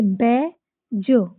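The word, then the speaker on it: badge: तो हम डी को साइलेंट कर देंगे। इसको पढ़ेंगे बै ज बैज।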